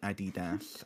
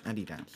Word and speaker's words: Adidas: American pronunciation. Adidas. American pronunciation. Why are you searching? Search up how to pronounce Adidas.